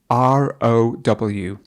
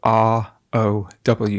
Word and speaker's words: row: So let's focus on this word, which is the word row, or it's the word row.